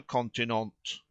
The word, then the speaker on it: continent: took place on the continent he pronounced the last truly admirable word with the accent on the last syllable not as unaware of